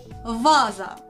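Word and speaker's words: ваза: But with some practice, you will remember it's pronounced as the first sound in a vase, vaza.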